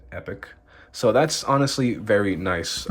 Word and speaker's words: Epoch: So if you take a look right here, it does say Epoch, and that's how I'm going to pronounce it, Epoch.